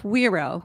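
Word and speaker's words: güiro: listen to this this is a type of weero which is spelled GUI r o and it's a rigged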